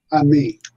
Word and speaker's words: Ammi: um is it how is your last name pronounced Ami Ami Ami okay teach them and